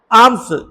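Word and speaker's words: alms: रहा था फॉर आर्म्स आर्म्स ए एल एम एस यानी भिक्षा एल साइलेंट है तो भिक्षा मांग रहा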